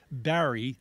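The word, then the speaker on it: Barrie: Barry yes Barry yes Barry b a r r i e Barry instead of carry instead of carry as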